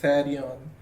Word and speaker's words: Therion: a little bit like the Greek Therion, which in the New Testament Greek time would be pronounced something more like Thadion, and that means beast,